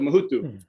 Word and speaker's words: Mahudu: Muhudu, but the last part is pronounced with a TH instead of a D, but you don't emphasize the TH. So it's an interesting way to pronounce it. So Mahudu.